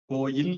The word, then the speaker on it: கோயில்: ரெண்டும் சரிதான் கொண்டு வந்துட்டாங்க இந்த மாதிரி கோவில் சரியா கோயில் சரியா இலக்கியங்கள் எல்லாம் கோயில் தான் இருக்கு ஆனா நன்னூல்ல கோவிலும் சரிதான்னு இலக்கணம் எழுதி வச்சிருக்காங்க அப்போ ரெண்டையும் சரியா கொண்டு